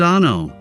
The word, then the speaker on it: ANO: Welcome to ANO Camera, pronounced Ah-no.